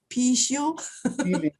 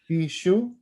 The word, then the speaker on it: Píxiū: Píxiū. Píxiū. Píxiū.